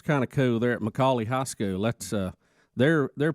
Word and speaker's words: McCallie: So which one is it? McCallie. Yeah. So it's not McAllen. No, it's McCallie.